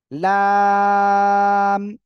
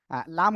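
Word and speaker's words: ل: লাগাবেন লাগিয়ে উচ্চারণ করবেন লাম ওকে যাই হোক লাম হলো জিহ্বার আগার কিনারা তার বরাবর উপরে মানে উপরে মাড়ির দাঁতের ক্রস সঙ্গে লাগে উচ্চারণ হবে আমার একটু ভুল হয়েছে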